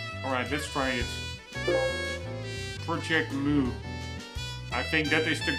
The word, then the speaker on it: mu: Project Mu. I think that is the Greek, that U kind of symbol. I think is Greek for, the Greek character for, that is pronounced mu.